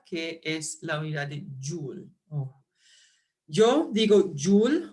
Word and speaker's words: Joule: o Joules, otros van a decir Joule, Jule o Julio, Julios. ¿Ok? Para mí, Julio es un mes. Y dado que Joule es un apellido, yo pienso que es más correcto no cambiar la pronunciación.